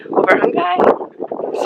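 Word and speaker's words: Övörkhangai: I'm pretty sure you pronounce it Overhungai. Sorry if I'm wrong, but yeah, so we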